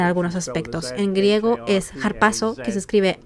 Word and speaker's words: harpazo: bastante interesante en algunos aspectos en griego es harpazo que se escribe h a r p a Z o